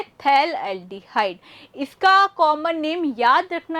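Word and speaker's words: phthalaldehyde: बहुत बच्चे इसको पीथैल एल्डिहाइड भी बोलते हैं, पर ऐसा मैंने सुना है कि यहाँ भाई ये जो पी है ये साइलेंट होता है और इसका नाम है थैल एल्डिहाइड।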